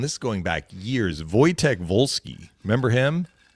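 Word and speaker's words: Wojciech: Voytech. There was there was another Polish player who played for Colorado. And this is going back years. Voytech Volvolski.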